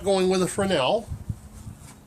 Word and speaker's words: Fresnel: And I'm not going with a Fresnel. Yes, I said Fresnel, not Fresnel, because that is the proper way to say it.